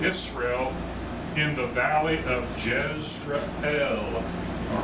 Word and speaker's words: Jezreel: The Lord said to him, call his name Jezreel. That's, I believe, how you would pronounce it. Okay, not Jezreel. Jezreel, the El meaning God.